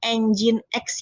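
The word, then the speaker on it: nginx: yang saya gunakan adalah engine X dibacanya engine X ya lalu nah ini adalah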